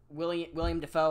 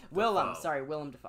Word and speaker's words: Willem Dafoe: That remake with Zac Efron, John Travolta, William Dafoe. I couldn't think of his name for a second. Willem Dafoe. I always pronounce his name wrong.